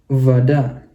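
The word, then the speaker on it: вода: jadi fota ya fota Kalau yang ini penekannya di a maka yang ini dibacanya jadi a maka kita bacanya jadi vada vada gitu kira-kira teman-teman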